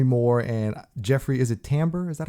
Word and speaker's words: Tambor: And it stars Demi Moore and Jeffrey, is it Tambor?